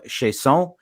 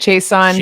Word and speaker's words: Chiasson: Leadership to Wealth podcast, and today's guest, Danielle Chiasson. Is it Chiasson? Did I pronounce that properly? It's fine. Everybody says it different. Chiasson, Chiasson. Chiasson.